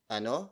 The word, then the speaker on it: ano: If you have Filipino friends who can speak Tagalog, you can simply ask them, ano sa Tagalog ang?